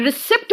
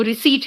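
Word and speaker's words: receipt: Conceit, डिसीट एंड रिसिप्ट मत कहना, यहां पे पी भी साइलेंट है, यहां पे पी भी साइलेंट है, वो रिसीट है।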